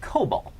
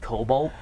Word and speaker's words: COBOL: they use this thing called COBOL. COBOL. Are which, you? If you watch Fox News, they're calling it Cobalt.